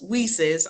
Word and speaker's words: WiCyS: and as I stated it's pronounced as whises I don't know how